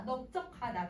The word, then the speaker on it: 넓적하다: 그래서 지금 선생님 발음해보면 다 넙둥글다, 넙죽하다, 넓적하다 다 비읍으로 발음을 해.